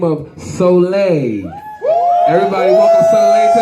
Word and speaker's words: Souliel: haitian or no french you know solei means son but you know i spell it differently like so like your soul sir so um you